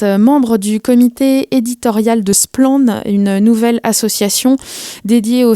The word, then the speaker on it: Splann: Pour commencer, qui est l'équipe qui se cache derrière Splan? On précise que ça veut dire clair en breton. Ça s'écrit SPLA2N.